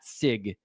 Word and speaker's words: Sieg: today, Matt Sig, and I've been calling him Sieg forever. So Matt Sig is how they called him on the broadcast to his face. So I think that's how you say his name.